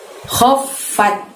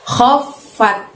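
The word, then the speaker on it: خَفَّتْ: Kho itu kita keluarkan suaranya dari tenggorokan bagian atas. Jadi seolah-olah ada yang bergerak, ada yang berjalan atau suara ngorok ya. Lalu masukkan ke fa bertasdid, khof gitu, ditahan, lalu baru bunyi fat, khof fat. Biasa kalau tak sukun bunyi huruf T diikuti desis, khof fat gitu ya. Wa amman khof fat.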